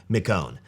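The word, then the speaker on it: McKeown: Greg and I believe his last name is pronounced McCone and so Greg has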